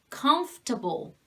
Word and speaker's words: comfortable: Comfortable, comfortable, comfortable. So this OR is silent.